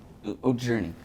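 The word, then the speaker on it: Jurnee: Even how you pronounce her name again? Which one? Journey.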